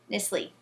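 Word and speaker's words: Knisley: sure how to say silent k nissle so Lucy nissle my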